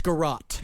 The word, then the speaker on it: garrote: was attached to a wooden, how is this pronounced, garrote? It's garrote.